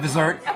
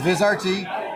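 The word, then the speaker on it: Vizrt: If you're not the only one that pronounces it, Vizert. Um, so it's okay. But it's Viz RT.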